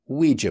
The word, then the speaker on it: Ouija: Very occasionally, in words of foreign origin, the W sound may be spelt O-U, as in Ouija board.